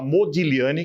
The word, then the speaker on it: Modigliani: que é o modigliani que se escreve modigliani mas se fala modigliani que é o nome